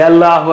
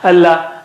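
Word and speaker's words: الله: So as I told you, like people who don't know, they'll say Allahu Akbar, Allah. No, it's not Allah. It's not the right way. You say Allah, Wallah, not Wallah, Wallah.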